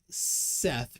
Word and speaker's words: Seth: thoth is pronounced tote h's are silent in seth pronounced set however this is interpretation